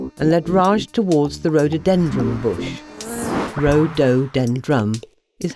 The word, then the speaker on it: rhododendron: "Follows me," said Big Fat Bee, and led Raj towards the rhododendron bush.